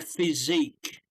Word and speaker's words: physique: Okay, and so they yeah, it's good for their physique. Is how we pronounce it.